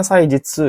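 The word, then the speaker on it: 祭日: Saijitsu, so dan ini bacanya Saijitsu ya, Saijitsu. Hari festival, tapi dipakai nggak ya?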